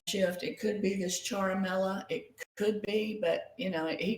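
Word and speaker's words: Ciaramella: Okay, so I'm being told that I didn't say it right. It's charamella, an Italian word that means like musical instrument.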